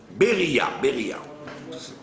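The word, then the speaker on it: בריה: C'est ce qu'on appelle le din de Bria. Beria. Bria, ça veut dire une bestiole. Le din de la bestiole. D'accord? Ouais, ça s'écrit Bet Resh Yud Hei.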